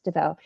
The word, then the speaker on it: Devos: Um and as well as Teresa Devos or Dvau rather I said DVOS because that's how it's spelled it's Dvau. Um and while you know